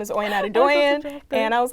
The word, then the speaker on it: Adedoyin: my name is Oyin Adedoyin, and I was like, I've never met someone where their last name rhymes with their first name.